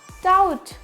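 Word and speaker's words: doubt: बोलना है डट TET next डाउट I have डाउट बोलते ना आई हैव डाउट मुझे डाउट है तो क्या हो जाएगा वहां पे बी साइलेंट होगा टी बाद में आ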